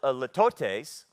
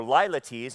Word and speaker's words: litotes: Well, it's a litotes, or lilates, it's pronounced both ways.